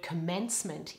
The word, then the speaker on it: commencement: at your commencement now the stress in the word commencement is all on the second syllable the letter O in the first syllable becomes schwa just like in the word today try it with me